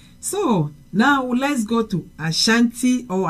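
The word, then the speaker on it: Asante: very important okay so now let's go to Asanti or aanti very very important um in English I think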